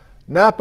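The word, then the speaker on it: Knappa: for you who knows napa oregon the k is silent oh god i did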